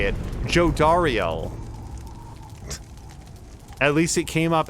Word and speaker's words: Jodariel: Jodariel.